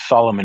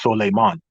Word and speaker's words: Solomon: Solomon, which of course in that part of the world, you don't pronounce it Solomon. It's pronounced Solemon.